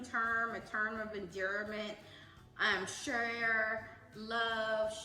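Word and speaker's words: cher: Share, love, it's C-H-E-R, but sometimes we pronounce it S-H-A.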